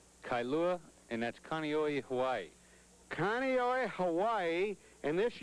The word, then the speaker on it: Kaneohe: live in hawaii here's the how do you pronounce that place kailua kailua and that's kaneohe hawaii kaneohe hawaii and this young girl is